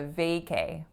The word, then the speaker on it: vacay: not it's a a I also have to stress that first syllable so it's a vacay vacay short for vacation right I'm so pumped